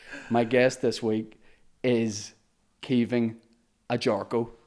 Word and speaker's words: Caoimhin Agyarko: My guest this week is Caoimhin Agyarko. Right or wrong? Perfect, yep. Perfect pronunciation.